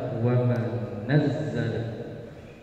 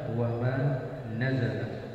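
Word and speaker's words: وما نزل: Maka dibaca wa ma nazzala, ya, wa ma nazzala. Berbeda dengan Nafi, Hafs, Mifdal dan Asim, dibaca dengan difathahkan huruf nun dan tidak ditasydidkan huruf zai. Jadi dibacanya apa? Wa ma nazala, seperti yang ada di dalam mushaf.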